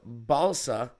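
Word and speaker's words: Balša: Clippers are also sending the draft rights to Balsa, spelled like salsa with a B, Koprivica, the 57th pick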